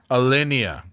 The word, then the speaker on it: Alinea: how how does that work yeah and uh elenia elenia Elena Elena Elena alinea yes sorry for my pronounce in Chicago they don't talk you can't